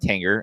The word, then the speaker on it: Tanger: in San Marcus Texas at the Tang Tanger I think it's pronounced Tanger Outlet Malls yeah yeah yeah so